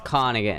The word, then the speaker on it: Königin: And how do you say the O with the 2 Königin. dots? So it's aw. It's Königin. It's Königin. That O with the dots makes an aw?